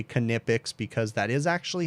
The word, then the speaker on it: Knipex: canipix employee called them nipix but most of the videos you'll see they do pronounce the k canipix okay it sounds